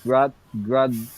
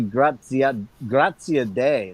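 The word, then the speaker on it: Graziadei: Well, on that Okay, you same need note, Rob Flynn had Billy Grazietti? I think it's actually Grazia Day. That's how Grazia Day. That's how Rob was pronouncing it last night, and they went into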